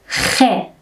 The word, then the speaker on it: خ: In Farsi, we have a consonant that is hard to pronounce for speakers of many languages, including English. That is khe. Khe. Khe is a fricative consonant. For pronouncing this fricative consonant, we must first draw the end of our tongue, as you can see in this photo, to the soft palate in the mouth.